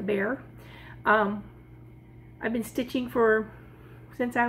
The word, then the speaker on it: Bexar: That's B-E-X-A-R, but it's pronounced like a bear.